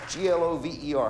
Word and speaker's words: Glover: G-L-O, G-L-O-V-E-R. How do you pronounce that? Lover with a G. Like Glover.